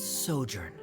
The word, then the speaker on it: sojourn: clear uh director is osimos how do you pronounce this word let me see Ah that's sojourn it means to stay for a while is